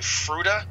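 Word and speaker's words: Fruita: I'm going to mispronounce this, probably Fruta.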